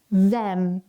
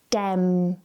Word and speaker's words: them: Make sure that you're just sliding your tongue forward.